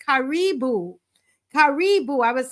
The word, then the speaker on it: karibu: all so very much I want to say karibu karibu I was saying kibu before and someone says Marcia that's not the